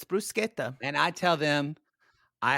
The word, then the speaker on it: bruschetta: the Eternal debate of it's not bruschetta it's this is gonna this is gonna humiliate you every time you order an Italian restaurant it's bruschetta that's how it's said correctly and when I say